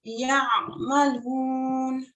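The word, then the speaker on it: يعملون: Ya'malun. That was much better. So to pronounce this ayn sound, you just have to bring your tongue in back into your throat a little.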